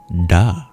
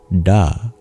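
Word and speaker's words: ड: That single Sanskrit sound is duh, which is like a d in English. But in Sanskrit, this sound you curl your tongue back to pronounce it.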